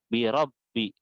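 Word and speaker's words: بِرَبِّهِمْ: ini walaupun di atas tapi di bawah tasydid maka dibacanya birobbihim Emang ada yang menuliskan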